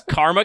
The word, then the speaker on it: karma: But the song is Karma Chameleon. At no point does that man pronounce an R in karma. It's just not there.